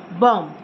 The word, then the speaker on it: bomb: it's calm com bomb again B is silent it is only bomb bomb next word is Monk